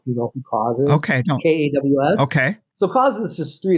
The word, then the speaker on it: KAWS: And I was like, if you say it without knowing how it's spelled Kaws. But if you say it, it says cause.